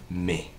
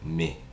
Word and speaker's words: mais: Se dice me, se escribe mais, pero es se dice me. Acuérdate que la AI en francés se lee E, ¿de acuerdo? Y la S en este caso no se pronuncia al final.